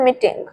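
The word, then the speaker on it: meeting: जो फर्स्ट है syllable first word है उसमें आपको साउंड ज्यादा देना है। आपको ई साउंड को थोड़ा लंबा खींचना है। आपको बोलना है मीटिंग।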